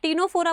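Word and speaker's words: Ctenophora: टीनोफोरा में बेटा सी silent होता है तो उसको आप टीनोफोरा बोलते हो, तो ऐसे याद रख सकते हो टीनोफोरा।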